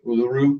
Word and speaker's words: Uluru: geographical features of Australia is and hopefully I'm pronouncing this right Uluru is that correct that's correct so did you